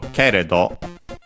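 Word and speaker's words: けれど: Then we have keredo, should be actually accented on the ke, so keredo, which we've seen before, or at least I've mentioned it.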